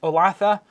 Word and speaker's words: Olathe: Donna says, first time ever as my neighborhood Walmart in Olathe, Kansas. I would not have thought it was pronounced that way. Thank you for the pronunciation. Olathe, Kansas.